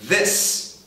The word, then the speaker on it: this: No caso do singular, o som final é s this. O que vai te forçar a ligar com s, caso a palavra que venha na sequência, comece com vogal.